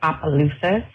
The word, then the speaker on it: Opelousas: Yes, you did say it wrong. It's Opelousas.